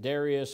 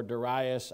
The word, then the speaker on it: Darius: In the second year, and you can pronounce this however you, I've heard people pronounce it Darius or Darius.